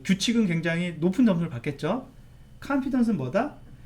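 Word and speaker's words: confidence: 할 때는 이제 컨피던스 컨피던스 하는데 미국식 발음은 여기 강세가 있어서 컨피던스 되는 거예요 그래서 제가 좀 뭐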